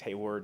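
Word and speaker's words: Hayward: uh Colonel Haywood Al they spelled his name wrong um it's hey word not Haywood um it also mentions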